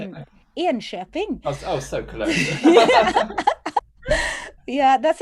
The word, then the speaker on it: Enköping: He spent the summer there as a student working in, I'm going to say this wrong, Ekoping. Ekoping? Is that how you say it? Enköping.